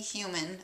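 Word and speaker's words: Hughman: and it was by a human 08 or you could say zero eight I guess a human zero eight but human is spelled h-u-g-h-m-a-n it's a guy's last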